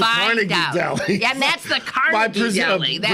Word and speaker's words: Carnegie: And that's the Carnegie Deli. That's pronunciation. Right. They say the Carnegie Deli there.